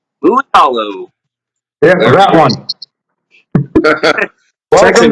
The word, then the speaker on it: Mulitalo: Mulitalo. Mulitalo.